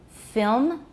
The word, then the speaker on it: film: The nasals in kiln, film, are not syllabic in most accents of English.